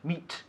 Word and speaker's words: meat: Meat. Meat. Not me. Meat.